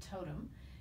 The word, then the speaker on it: Toteme: collection that is called totem it's not spelled that way but that's how it is pronounced and i just had